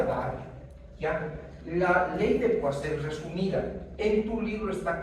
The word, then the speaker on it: Poiseuille: Ya, ahí está, Poiseuille. Bien, esta se llama la ley de Poiseuille, ¿sí? He oído que se pronuncia así, ley de Poiseuille, ya porque es un francés, algo así, ¿ya?